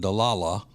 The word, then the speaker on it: Delilah: Their names are Delilah, or as uh Lindsay pronounces it, Dala. Dala. Dala and, uh, Brooks.